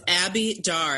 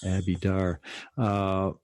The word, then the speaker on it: Abi Dare: It's Abby Dar. I had to ask because I had been saying her name like you, which was evidently not the way that she pronounces her name.